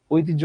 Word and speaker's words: ঐতিহ্য: এটা কিন্তু আমাদের দেশের বোধহয় প্রায় বেশিরভাগ মানুষই ভুল উচ্চারণ করে থাকে। এটাকে বলে ঐতিহ্য। আরে আমাদের বংশের ঐতিহ্য আছে না, ঐতিহ্য আপনার বংশে নাই। আপনার বংশে ঐতিহ্য থাকতে পারে, ঐতিহ্য নামে বাংলা ভাষায় কোনো শব্দ নাই ঐতিহ্য উচ্চারণে, ঐতিহ্য।